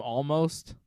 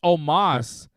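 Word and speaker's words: Omos: notice Bobby calls him almost you know this guy half your roster can't pronounce his name it's Omas everybody calls him almost almost almost well no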